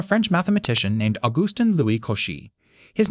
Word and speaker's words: Cauchy: The fix took until 1821 and it came from a French mathematician named August Louie Koshi. His name is pronounced Koshi.